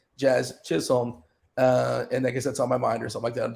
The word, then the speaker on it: Chisholm: up in chat but that is how you pronounce the man's name Jazz Chisholm uh and I guess that's on my mind